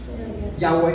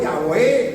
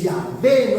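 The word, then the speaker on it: Yahweh: Se me fue la pronunciación de de Jehová en hebreo, pero es Yahwe. Ah, sí, Yahé. Yahweé. No, Yahwé le digo.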